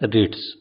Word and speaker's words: REIT: REITs real estate investment trust या REIT, जिसका उच्चारण है रिट्स।